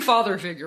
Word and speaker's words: Father Figuer: check out lakeways and father figure and i'm saying father figure right right it's yeah just straight old father figure okay because we